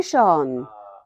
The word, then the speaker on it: shone: Yesterday, the sun shone. Or when I looked at the ocean, the sun shone on the ocean. I've just learned Americans say shone. They don't say shone. It rhymes with gone.